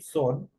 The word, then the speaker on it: soon: Estas dos O, el momento de pronunciar se pronuncia como una U. Entonces tenemos aquí son, que es pronto.